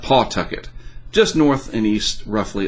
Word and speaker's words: Pawtucket: company up there in Pawtucket hopefully that's how you say it Pawtucket I learned it's not Pawtucket just North and East